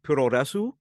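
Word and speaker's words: プロレス: So like pro wrestling is pronounced puroresu, which is kind of like how a Japanese person would say the word in English with their accent.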